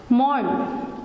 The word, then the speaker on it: mourn: मॉर्न, MOURN, तो इसमें यहाँ पे ना आर जो है वो हम साइलेंट रखेंगे.